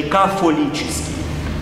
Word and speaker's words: кафолический: Просто произношение католический в восточном произношении кафолический, а в западном произношении католический, тома, фома, вот, и так далее.